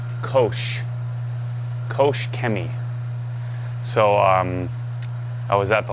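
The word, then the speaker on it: Koch-Chemie: I said, isn't it Koch Chemi? They said, no, we pronounce it Kosh. Kosh Chemi.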